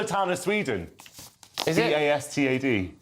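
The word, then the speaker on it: Båstad: Alan Bastard. A reference to the character Alan Bastard, yes. It's also town of Sweden. Is it? Bastad. I think it's pronounced Bastard, though.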